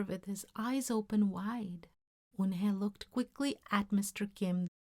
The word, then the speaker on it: Unhai: Unhai looked quickly at Mr. Kim, then turned to Joey. She nodded slowly. "Yes, it's pronounced Unhai, and it means grace," Mr.